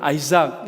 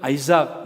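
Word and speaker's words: Isaac: 이사 어 이제 아 영어로는 아이삭 이라고 읽고 어휘 무료 원어를 보니까 입사 아크 라고 하는 말을 사용합니다 그런데 원어에 는 우리 한국 말이 영어보다 더 비슷하게 발음이 되는 겁니다 이상인데 꼭 미국사람들은 아이 싹 이라고 이렇게 이야기를 하더라구요 e 사기 라고 하는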